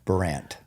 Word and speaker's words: Burandt: Yeah. Burandt. Yeah. That's Does it? Yeah. I don't know why they put a D in there, but it really screws people up. Do you say the D? No. Burandt.